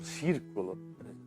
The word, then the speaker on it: Circolo: Círculo, na verdade, é um círculo. Pronuncia círculo porque é uma expressão italiana que o C e o I se fala ci, como arrivederci, né?